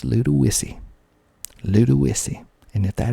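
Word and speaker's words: Ludowici: a couple of days ago next we have little wissy little weezy spelled l-u-d-o-w-i-c-i you would think that would be pronounced ludawichi but it is not pronounced ludowichi it is pronounced little wissy little wissy and if that is not right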